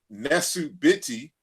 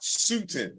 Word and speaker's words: Nesut Biti: So that's how we know that, for example, the word is Nesut Biti as far as the king, and not Sutin, as in Sarah Sutin Seti.